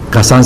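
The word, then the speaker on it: Cassin: Kazan se escribe C-A-S-S-I-N.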